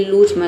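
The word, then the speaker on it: lose: लूज में देखिए ओ के बाद कॉन्सोनेंट प्लस ई आया है, लेकिन यहाँ पे ऊ को हम जो ओ को ओ नहीं पढ़ते हैं, यहाँ पे ऊ पढ़ते हैं, तभी इसका प्रोनाउंसिएशन होता है लूज, यानी कि लूज मतलब खोना।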